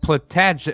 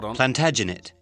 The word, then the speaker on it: Plantagenet: that capitalized isn't that a last name like plutat i think maybe you're not quite saying it right that sounds familiar plantagenet no plantagenet absolutely if i'm relating to the